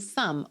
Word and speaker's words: thumb: amazing and remember that the b and thumb wasn't ever pronounced it just followed suit